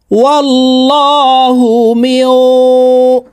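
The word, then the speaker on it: وَاللَّهُ: দিয়ে উচ্চারণ করতে হবে ওয়াল্লাহু এই লামকে ল অর্থাৎ মোটা ভাবে পড়তে হবে কারণ আল্লাহ শব্দের আগের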